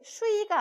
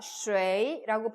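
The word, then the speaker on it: 水: 야, 중국어로 물이 쉐인데 왜 유아인데 슈이가 아니라 쉐이라고 발음을 해?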